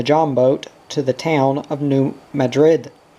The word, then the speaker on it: New Madrid: Off went Daddy and Mamma in the Houseboat to the town of New Madrid, pronounced New Mad-Rid.